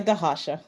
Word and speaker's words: Rocha: state and uh rocha is here i don't know if i'm pronouncing your name correctly am i it's okay it's dahasha okay sorry um yeah